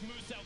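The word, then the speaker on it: Muselk: His name is pronounced as Moose Elk, the Australian-based content creator down there.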